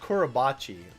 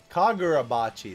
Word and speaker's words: Kagurabachi: it's not is it it's not kurobachi I don't think that's how you pronounce it is it korobachi is that how you pronounce it kagurabachi that's how you pronounce